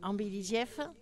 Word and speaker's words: Ambelidieff: de famille, c'est Ambelidieff. Donc, j'ai fait un jeu de mots, hein. L'Ambelidieff. Voilà, atelier. Oui, c'est trouvé, ça. L'embellie comme une embellie. Oui, mais ça s'écrit avec un A.